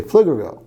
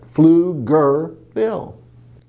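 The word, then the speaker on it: Pflugerville: you're trying to say flicker go it's the p is silent flew like you're flying right flew gir like you're mad flew girl who would name a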